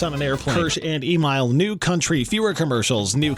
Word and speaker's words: Emyle: and I'm enjoying this I'm like no it's Emile like Kyle but okay so know back to